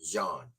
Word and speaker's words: Jan: named screwface John but he spells his last name Jan like Jean but he pronounce it John right he did a